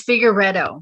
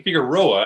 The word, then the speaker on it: Figueredo: It's Figueredo. Figueredo. I kept thinking Figueroa, and I'm like, that's not right.